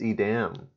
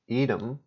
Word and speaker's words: Edam: that originally in Netherlands pronunciation Edam Edam Edam Edam that's Edam edem Edom for British okay I thought it